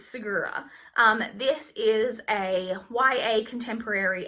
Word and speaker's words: Segura: I've looked up how to pronounce it. It's Segura.